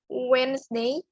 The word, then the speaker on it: Wednesday: So first, Monday, Tuesday, Wednesday, ini dibacanya Wednesday, ada z-nya ketika kalian menyebutkannya, bukan Wednesday, Monday, bukan seperti itu.